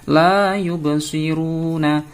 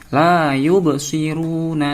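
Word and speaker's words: لا يبصرون: Selanjutnya baris yang ketiga, la yubsiruna. Bacaan qalqalah. Kenapa? Ada ba berharokat sukun. Membacanya harus mantul. La yubsiruna.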